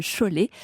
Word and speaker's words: Šiauliai: Šiauliai et se prononce Cholet. Comme donc, les mouchoirs de Cholet, mais c'est voilà.